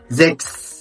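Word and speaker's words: sechs: لك في الكلمات المقطع ده هو السي اتش اس سي اتش اس وده بيتنطق اكس اكس ثم شبيل زكس زكس يعني رقم سته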